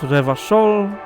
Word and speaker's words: Revachol: Revachol is pronounced Revachol, Oranie is pronounced Oranie, and Krasie is pronounced Krasie.